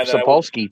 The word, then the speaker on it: Sapolsky: Gabe Spolowski's out there. Yeah, Gabe Sapolsky, too.